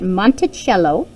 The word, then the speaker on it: Monticello: We pronounce it Monticello.